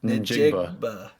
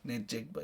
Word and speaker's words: Njigba: Ninjigba. Ninjigba.